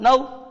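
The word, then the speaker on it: know: उसी तरीके से बच्चों कनो, तो एक कनो में क्या है बच्चों? ये भी ये वही नियम, तो पहला साइलेंट, अब बोलो नाउ, नाउ, इस तरीके से बोलो।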